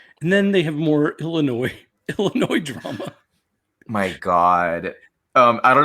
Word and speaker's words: Illinois: Drac says, oh, have you ever been to Illinois? And I'm like, Drac, you know it's pronounced Illinois.